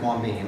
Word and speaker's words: Wambeam: It's actually pronounced Wambeam. I've heard it's Wambeam, Wham, I don't know.